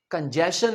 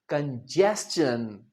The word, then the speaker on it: congestion: कंजेशन नहीं, कंजेस्शन।